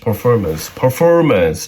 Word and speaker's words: performance: Tonight's performance, 잘 나오는 단어인데요. 이거 되게 어려운 단어예요. P 발음하고 F 발음하고 동시에 같이 있거든요.